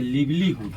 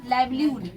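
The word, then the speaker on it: livelihood: लगा था कि ये लिव्लीहुड है ना तो आप अमेरिकन में जाइए ब्रिटिश में मतलब ब्रिटिश डिक्शनरी में जाइए सबका प्रोनाउंसिएशन क्या बोला जाता है लाइव्लीहुड लाइव्लीहुड ठीक है तो लाइव्लीहुड का मतलब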